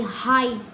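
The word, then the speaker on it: high: होता है आई य जैसे कि एच आई हाई इसको हम ही नहीं पढ़ते ही नो ही का स्पेलिंग होता है एच ई ही ठीक है लेकिन इसको हम पढ़ेंगे हाई ह आई आई को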